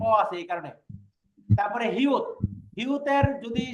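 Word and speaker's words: 히읗: তারপরে হিউত। হিউতের যদি সে প্রথমে বসে তাহলে তার উচ্চারণ হবে হ, কিন্তু খেয়াল করে দেন হিউতেরও যদি নিচে বসে তাহলে তার উচ্চারণ হবে কি?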